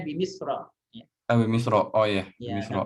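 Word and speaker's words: بمصر: Bimisri. Kenapa Bimisri? Karena jar majrur. Misri ini nama tempat. Nama tempat. Jadi mamnu minas sarf. Harusnya Bimisra.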